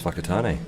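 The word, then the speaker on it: Whakatāne: Well, the only swear word I've said today is whakatane. We'll try not to do that. That's how you say it. That's how it's pronounced.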